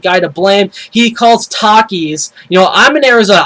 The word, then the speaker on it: Takis: in Arizona I eat Takis all the time I buy it you a whole lot I love it it's a great Chip he calls it teis the guy can't even pronounce anything right so Michael call shame